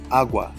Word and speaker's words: agua: even though it's feminine since it has the stress on the first syllable agua every word that is considered feminine if it has the verbal stress on the very first syllable you have to change